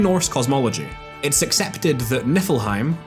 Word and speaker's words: Niflheim: cosmology, it’s accepted that Niflheim, or Niflheim (Icelandic pronunciation), however you want to